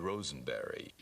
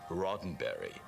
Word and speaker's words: Roddenberry: I said uh I'm here to see Mr Rosenberry s what is it where's on what she said uh I'm sorry that it's pronounced rotenberry and that really in intensified my nervousness because